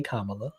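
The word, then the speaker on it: Kamala: saying it wrong this is how you say kamla kamla yeah but it's like the the the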